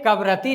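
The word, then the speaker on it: कवरत्ती: है काबरती ऑप्शन में कवरति लिखा हुआ है। इसका उच्चारण सही में होता है कवरती।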